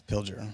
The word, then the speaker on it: Pilger: democracy yeah by uh john pilger john pilgrim i think that's how you say his name i've never heard his name said i believe you're right yeah i think it's pilger yeah he's an australian